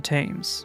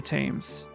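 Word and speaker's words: Thames: Isn't the tames pronounced temps? It might be. I am I am a I am a American so I don't I don't know never visited it personally. Was this the gear hanger? This is a freaking elevator. All right, the gear hanger's that way. It definitely might be the temps. But why do they pronounce it so stupid?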